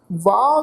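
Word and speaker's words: ਵਾਹ: जिहड़ी औंकड़ की मात्रा है इत्थे इहदा प्रनाउंस नहीं करना। ये शब्द है वाह, इनू वाहो नहीं प्रनाउंस करना।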